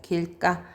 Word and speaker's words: 길가: 길까. 자, 보니까 길가 이렇게 되었네요. 자, 여기 보면 길가 여기 만났어요. 네. 된소리로 발음이 바뀌어지죠.